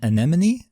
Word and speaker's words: anemone: yeah I'm pretty sure it's pronounced wait has pronounced anemone oh yeah it is yeah sorry yes and